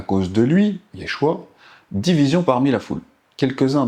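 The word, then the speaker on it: ישוע: Le nom du Messie c'est Yod Shin va ain qui se prononce Yeshua.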